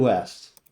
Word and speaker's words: Wuest: only Avatar God Quinn West what's popping Pat did they pronunciate your name correctly you know you got right yeah West that's that's you got